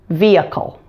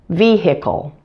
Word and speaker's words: vehicle: one of those words the most common pronunciation is with a silent H vehicle but you do hear some Americans pronounce the H in the middle of the word - vehicle so you can choose